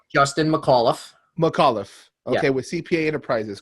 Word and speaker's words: McAuliffe: Justin McAuliffe.